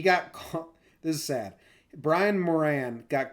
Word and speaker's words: Moran: jumped here go on it was Brian more on versed Colin more on it's brutal some more an okay okay okay the real name the real pronunciation is Moran two brothers faced each